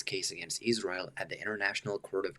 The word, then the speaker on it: Israel: Okay, so first thing on the pronunciation of Israel, I'm hearing Israel, almost kind of like an Israel kind of thing going on. Whereas, in standard American English, you'd expect to hear Israel, eel on the vowels.